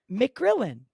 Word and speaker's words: McGrillen: surname again because you said it really nicely mcgrillin yeah so mcgrillin and another way I pronounce it um I God how did I